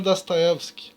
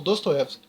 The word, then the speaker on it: Dostoevsky: Lembrando que a pronúncia correta é Fyodor Dostoevsky, né, mas a gente pronuncia como Dostoevsky. Que é Noites Brancas.